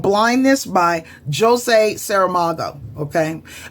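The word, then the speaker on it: José: It's likely Jose because he's Portuguese. He was Portuguese, and I know with Brazilian Portuguese, dealing with Brazilian students, the J, they pronounce it J. Unlike in Spanish, you have the same spelled name. It's Joseph in English, but they say Jose, the Spanish pronunciation, whereas Portuguese, or at least Brazilian Portuguese people, say they say Jose, and it's Jose Saramago.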